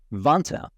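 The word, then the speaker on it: Vanta: real time and money vant rhymes with Santa automate up to 90%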